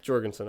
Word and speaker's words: Jorgensen: So is it Jorgensen? Yeah. Jorgensen or Jorgensen. Jorgensen?